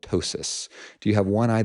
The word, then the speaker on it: ptosis: Do you have this funny word that begins with a P, where the P is silent, called ptosis?